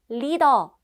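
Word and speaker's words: 리더: sensitive issue number three Lido this is the Korean pronunciation of leader in K-pop a leader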